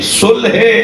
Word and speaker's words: صلح: ختم ہو جائے گی۔ صلح صحیح تلفظ صلح ہے، ہم صلح کہتے ہیں، تو دونوں کہہ دیتا ہوں۔ صلوات پڑھیں ذرا نبی